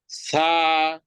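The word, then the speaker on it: ث: জিহ্বার আগা সামনের উপরের দুই দাঁতের আগার সাথে লাগিয়ে হালকা বাতাস বের করে উচ্চারণ করব।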